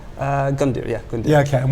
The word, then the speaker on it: Gundir: Have I pronounced that right? Gundir, yeah, Gundir.